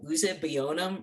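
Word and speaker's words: Uzuegbunam: hard to pronounce but one trick if you want to know how to pronounce a case is you pull out the oral argument you see how the chief pronounced it uh and he pronounced this one uh usa bionum versus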